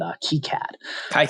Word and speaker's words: KiCad: And I think I mentioned, I think it's actually pronounced, as you said, KiCad.